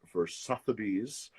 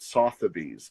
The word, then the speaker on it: Sotheby's: I had a show yesterday for Sotheby's. I've always pronounced it Sotheby's, but I was told it was Sotheby's.